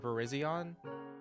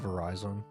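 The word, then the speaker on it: Virizion: but the Gen 5 legendary Pokemon Verizion the green one did you call it Verizon yep I did too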